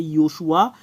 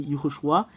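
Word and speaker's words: יְהוֹשֻׁעַ: Et si nous avons pris l'écriture de tout à l'heure, bah c'est Yehoshua, l'écriture. Le résultat, c'est Yehoshua. Ho, parce qu'il y a un point juste ici.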